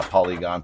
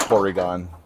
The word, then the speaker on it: Porygon: Well, yeah, Polygon, Porygon. Depends on how you say it. Oh, Yeah, if you were to do it the right way, it's Porygon.